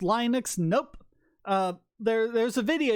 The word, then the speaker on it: Linux: I will always respond but Linux is always Linux he doesn't care how